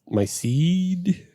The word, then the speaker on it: Ceed: Because it's spelled CEED. We don't have closed captioning. I know, but that's why I'm saying it out loud for the people. It's CEED. Seed.